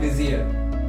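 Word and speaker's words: vizier: वैसे उसका प्रोनाउंसिएशन है विजियर, बट क्योंकि वो लैंग्वेज बदलती गई इसलिए धीरे धीरे करके उसका प्रोनाउंसिएशन वजीर हो गया। और वो लोग वजीर को कहते थे कि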